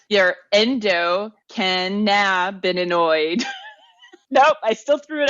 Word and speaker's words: endocannabinoid: Your endocannabinoid. Nope, I still threw an extra syllable in there.